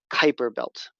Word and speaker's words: Kuiper Belt: It sounds like the word vipers, Kuiper Belt.